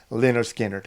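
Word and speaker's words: Lynyrd Skynyrd: about and of course this is lonard skanner pronounced lonard skinnard another great album a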